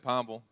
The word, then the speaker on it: Pineville: That's how locals say it, Pineville.